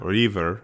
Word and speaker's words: Reaver: Reaver. Ree or Longy. Okay, fine. You want to pronounce it the way they do in the show. Rever.